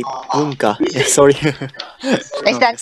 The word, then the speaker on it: Bunka: We say Bunka no Hi in Japanese. Bunka. How do you spell that?